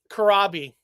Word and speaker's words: Corabi: John Corabi.